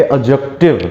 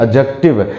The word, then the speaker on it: adjective: डी is silent, मतलब डी यहां पर साइलेंट है। डी को हम प्रोनाउंस नहीं करते हैं, हम लोग प्रोनाउंस क्या करेंगे? एडजेक्टिव। क्या प्रोनाउंस करेंगे? एडजेक्टिव।